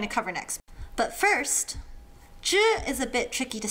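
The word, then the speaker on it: ㄓ: Some people like to really emphasize the tongue rolling, zhi, chi, shi. Others have more flat tongues, and they say zi, ci, si, which can confuse some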